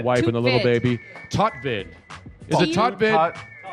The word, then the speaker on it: Tutvid: Tutvid. Is it Tutvid? It's spelled T-U-T, Tutvid.